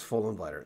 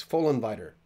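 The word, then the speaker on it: Vollenweider: uh this guy Andreas full inviter the V is an F the f is a v that's how you pronounce his name I had a Swiss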